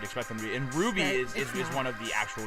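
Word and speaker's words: RWBY: note um this this weird little show called Ruby um slow that is how they pronounce it it's with our wby yeah so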